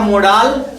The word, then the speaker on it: modal: कोई कहेगा मोडाल, तो मोडाल भी सेम है, प्रोनाउंसिएशन कुछ लोग अलग कहते हैं। लेकिन देखिए समझे बाबू लोग, कहीं डिक्शनरी मोडाल कहने के लिए अलाउ नहीं करता है। डिक्शनरी में हर जगह मॉडल पाया जाता है, मोडाल कहीं यूज नहीं किया जाता है।